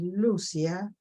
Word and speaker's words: Lucía: conocemos como Lucía pero el verdadero nombre es Lucía con acento en la u Así es como como